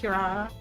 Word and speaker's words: Kirara: That's actually pronounced Kirara.